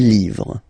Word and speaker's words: livres: Okay, les, and then same rule, you just write livre, and then you put s at the end, but then you don't pronounce it. Les livres, le livre, les livres.